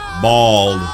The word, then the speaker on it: bald: number nine Bal Bal bald bald bald for whatever reason it's common in America to pronounce this word as though it was spelled with an O and not with an a to some confusion you